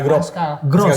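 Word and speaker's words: Groß: Pascal Gross. Jadi itu yang kayak itu S double S.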